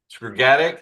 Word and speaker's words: Skrgatic: Today, it's our pleasure to have Paul Skrgatic. Did I pronounce that right? That's right. Skrgatic, and he and his partner Michael own a wonderful B&B in Edinburgh called the Crescent House.